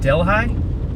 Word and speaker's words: Delhi: none of the red it's Delhi that's how you pronounce it okay thank you yeah